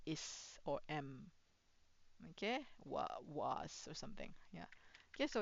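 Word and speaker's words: は: But if you say spring is beautiful, haru wa kirei. Okay, haru wa kirei. Okay, so this one is pronounced as ha, but this one is a it is a particle, so you have to do this wa.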